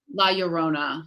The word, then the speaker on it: La Llorona: it la la rona la yorona yorona that's right the double l's is the sound well i had a